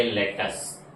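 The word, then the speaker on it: lettuce: Spelling है एल E double T यू सी ई। उच्चारण का बहुत बड़ा मसला यहां पे ईस्ट और नॉर्थ इंडिया में होता है। अक्सर वर्ड्स लोग गलत पढ़ते हैं। उसका गलत लफज़ करते हैं। प्रोनंसिएशन उसको गलत करते हैं। उच्चारण सही नहीं होता है। इसको क्या पढ़ेंगे? इसको पढ़ेंगे लेटस। क्या पढ़ेंगे? लेटस।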